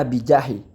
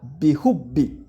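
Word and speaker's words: بِحُبِّ: Itu keliru kalau dibaca bijahi. Harusnya dibaca bihubbi.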